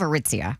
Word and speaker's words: Aritzia: I thought there's What's What's the store in the mall that I cannot pronounce? You were thinking of Aritzia.